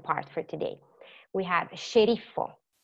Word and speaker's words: sceriffo: We have sceriffo, schiaffo, scuro, scivolo, muscolo, ascensore.